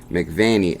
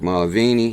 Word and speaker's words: Mulvaney: senator confirms Bitcoin support or Mick McCauley mcvane II as Trump's budget director so confirms Bitcoin supporter Mick Mulvaney I said that name wrong Mick Mulvaney he's also in this